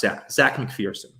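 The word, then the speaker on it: Zech McPhearson: name is spelled z-e-c-a looks like zac but i actually believe it's pronounced zach mcpherson and they get a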